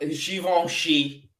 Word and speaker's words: Givenchy: are there but I'll talk about xivongshi um for one it's the only brand that I pronounce correctly or at least not anglicized in any way you know I don't